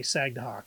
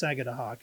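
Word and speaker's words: Sagadahoc: three times sagad Hawk I used to say sagw but it's sagad Hawk if you really pronounce it PR properly that's kind of coming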